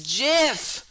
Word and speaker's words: GIF: originally called uh gifs therefore i just like gift better since like it's easier to say yeah it is i agree that it is it is jif but i do like gif sounding better yeah